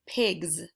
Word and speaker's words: pigs: And last but not least, you also have the word pigs. Now this is tricky because at the end of the word pigs, you hear the Z sound, but it's spelled with the letter S.